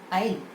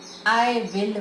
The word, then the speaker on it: I'll: It is not will. It is I'll. Not, don't say I will work.